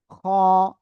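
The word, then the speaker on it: خاء: খ। গলার শেষ ভাগ থেকে অক্ষরটা উচ্চারণ হবে, মোটা আওয়াজে পড়তে হবে। খ।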